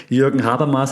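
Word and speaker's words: Habermas: coin and we talked about him a lot jur haras and yes that's how you pronounce the name trusted German um that has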